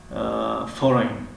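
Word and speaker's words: foreign: خب کلمه فورین، فورین، فورین. در اینجا نیز حرفی جی تلفظ نمی شود، به خاطری که در بین حرفی آی و ان آمدگی است.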